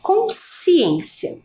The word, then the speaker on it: consciência: se refere à palavra consciência vejam que quando eu faço a pronúncia desta palavra a letra s ela vai vai ter um som único que a gente já descobriu que é um dígrafo é um dígrafo quando